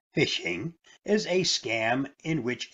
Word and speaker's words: phishing: its most basic form phishing pronounced fishing is a scam in